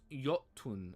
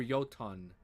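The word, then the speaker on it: Jötunn: Pronounced Yotun, I think. Yotun. Or Yotan.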